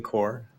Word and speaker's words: Corps: something for us I'm at Retro Game core and that's c-o-r-p-s like Marine Corps yeah and Rich where